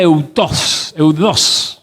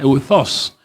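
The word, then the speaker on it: εὐθύς: La palabra eudos, así se pronuncia, maestra, eudos.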